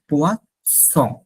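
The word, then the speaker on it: poisson: আর মাছ হচ্ছে পোয়াসন, সং, তো ছ, এস, এস এর মতো উচ্চারণটা পোয়া স।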